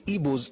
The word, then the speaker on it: Igbo: Baston, Among the Igbos of Nigeria, he said, and it's correct, that the closest way to actually spell the word as it is pronounced is I-B-W-O, is Igbo.